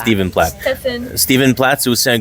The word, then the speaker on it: Stephen: Stephen Plat. Steven Plat. C'est aussi un gros artiste d'années 90 qui est très populaire. Donc souvent il Moon Cover que le français c'est compliqué. PH ça se prononce V.